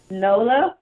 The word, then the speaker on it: Nola: is Nola Bayou bites I say Noble it's Nola I don't know why I said it wrong all the time a lot of people don't know that Nola if you're not from there or don't know that Nola is the new um n-o-l-a